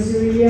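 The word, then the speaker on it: Zuriel: Era amannya gaali Zulia Onyang. The name was Zulia Onyang. Please spell that name for Choco. Z-U-R-I-E-L.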